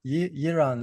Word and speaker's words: Iran: Iran, Iran, yeah? Iran, like kind of like the country, like Iran. It sounds similar.